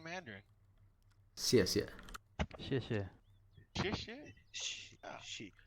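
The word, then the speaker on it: 谢: She. Like XI. XIE. Oh, it's almost like you're saying shush or something.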